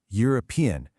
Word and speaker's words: European: But just listen to how you say them. Uniform, European. Hear that? That y sound at the beginning is a consonant sound.